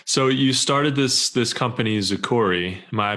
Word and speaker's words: Zukurri: So you started this company, Zukurri. Am I pronouncing that right? Zukurri, yes. So things Zukurri. Like zoo and then curry like the spice. Okay. Awesome. Yeah. So Zukurri.